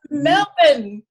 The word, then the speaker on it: Melbourne: Yeah, It's Melbourne.